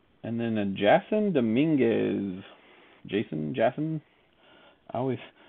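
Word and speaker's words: Jasson: then a jason dominguez jason jackson i always i always read his name as jasmine but i think it's pronounced jason dominguez for the yankees that's a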